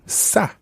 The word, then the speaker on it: ça: In that case, you would say, je voudrais un peu de ça, s'il vous plaît. Un peu de ça. Un peu de ça. Ça, and that's spelled C with a cedilla. A, ça. Ça.